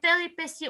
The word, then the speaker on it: péripéties: Non, c'est péripéties, on écrit T, mais on prononce S, c'est le son S. Mais on écrit T.